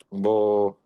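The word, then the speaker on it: בא: Bo, fácil, B tiene una voz se escribe la bet y luego la alif.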